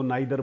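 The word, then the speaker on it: neither: क्या बोले इसको? नाइदर बोले, इसको नीदर बोले। दोनों ठीक है।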